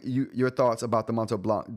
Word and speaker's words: Montblanc: I was wondering you your thoughts about the Montto Blanc. Don't pronounce the the T and C by the way.